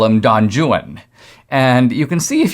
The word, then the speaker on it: Don Juan: wrote a work called don juan but in byron's day it was actually pronounced literally don juan and in fact the